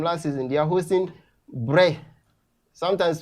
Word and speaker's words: Brest: Sometimes people call it Brest. Please, it's not Brest. The name is Brest. It's a French word, and I think our viewers, you have to take a very look at the pronunciation of the word.